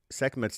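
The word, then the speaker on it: Sekhmet: the Egyptian twin goddesses Basset and sekmet so sekmet Temple if you're familiar with seket the goddess seet guys it's spelled s e k hm t and every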